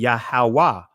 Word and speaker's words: Yahuwah: we do it in on the proper pronunciation in ancient Hebrew it'll be yahuwah but in what they